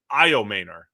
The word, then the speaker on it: Egbuka: It was outstanding for Egbuka. apparently is the correct pronunciation there.